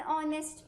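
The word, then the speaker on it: honest: क्योंकि जो इसका एच होता है, क्योंकि जो इसका ये एच होता है, ये कैसा होता है? ये साइलेंट होता है, इसकी साउंड प्रोनाउंस नहीं की जाती। इट is simply ऑनेस्ट।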